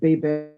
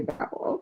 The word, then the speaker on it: Babel: Pam Pam said most people outside the US pronounce Babel as Babel. Okay, I did not know. So that's the whole UK and Australia. Y'all got the Babel, and we say Babel.